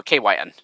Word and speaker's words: KYN: Yeah, that's how you say it, or at least that's how I tell people to say it, because it's essentially like three parts. Yeah, the first part is K, so KAY, that's the K part, and WHY, as you know, is the word Y, so it's pronounced Y, and then the N, yeah, as the letter that's tacked on, so KYN.